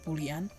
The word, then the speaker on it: Boolean: we can use another data type called buan pronounce buan buan variables can only have two possible values